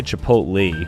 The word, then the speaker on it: chipotle: I say chipotle, which I don't even see here.